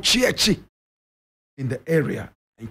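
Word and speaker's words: Tsietsi: So he was simply called Chiechi in the area. And Chiechi is spelled T-S-I-E, T-S-I, Chiechi.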